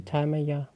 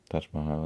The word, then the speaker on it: Taj Mahal: Probably I want to see Thai Maya. Taj Mahal, I mean. Taj Mahal. Yeah. Thai Maya. We work on that pronunciation.